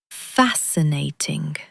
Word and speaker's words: fascinating: The SC is just a soft s sound. And emphasize the first syllable. Fascinating.